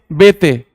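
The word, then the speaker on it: Béteille: इल्ले किस लिए है? इल्ले हटाओ ना, पर इल्ले है लेकिन पढ़ना नहीं है। BETEILLE, लेकिन पढ़ते हैं बेते, फ्रेंच नेम।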